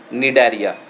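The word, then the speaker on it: Cnidaria: Example उसका है phylum निडारिया, here C is silent, यहाँ पे इसको कहेंगे फाइलम निडारिया।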